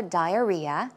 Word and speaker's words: diarrhea: iron iron stomach also diarrhea just in case uh the uh stress goes right there so it's diarrhea diarrhea a slang for